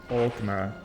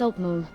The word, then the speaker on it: Altmer: No, still not correct at all. You're getting closer with the first syllable, but you keep dropping them entirely. It's Altmer. Yeah. To clear syllables.